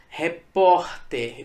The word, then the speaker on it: repórter: Repórter. Veja que a sílaba tônica é o por, não é o ter, é o por.